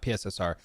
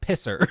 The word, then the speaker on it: PSSR: short also I think we should Pioneer the pronunciation not pssr it's a pisser the PS5 Pro it